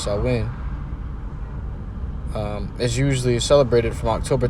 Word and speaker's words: Samhain: In modern times, Samhain, a Gaelic word pronounced Samhain, we've been saying it wrong this whole time, it's Samhain, is usually celebrated from